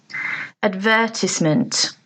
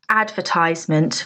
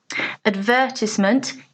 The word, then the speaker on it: advertisement: from the same root the stress is in a different place advertisement advertisement as the correct pronunciation not advertisement which is what you commonly hear advertisement is correct so word